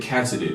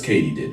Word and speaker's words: katydid: Turns out it's katydid. As in, did Katie do it? Yes, Katie did.